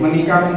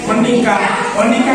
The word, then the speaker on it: menikam: Baik, menikam itu kata kerja. Tadi penyambutan pelafalannya sedikit salah ya. Menikah itu sama-sama kata kerja, tapi bukan yang dimaksud dalam teks ini. Menikam yang lain. Baik, menikam, betul ya?